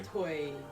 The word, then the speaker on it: Toei: T-O-E-I, however that's pronounced. Toei. Toei. Skate Rook says if they really want to go back to the roots, why not make Breath of the Wild, Zelda 3? Toy.